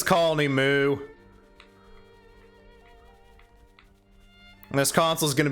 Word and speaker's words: Mu: know it's secondly pronounced mew like the pokemon but it's colony moo this console is going